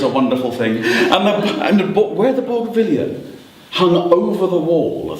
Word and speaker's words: Bougainvillea: Bougainvillea.